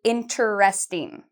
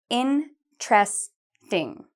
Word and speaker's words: interesting: How many syllables do you think it has? If you said interesting, you are correct. It has 3 syllables. Many students say interesting.